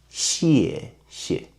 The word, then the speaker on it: 谢谢: 谢谢 original is 谢谢 but you need to put more strength and working on your throat, so we prefer the second syllable become weakened and softer, so it will be 谢谢谢谢谢谢 Okay.